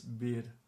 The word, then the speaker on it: bir: The thing with this is when it's in the syllable, at the end of a syllable, there's a soft sh sound coming after it. For example, in this word, which means one, or a, normally it's bir, but when we speak, usually we continue exhaling a bit more, and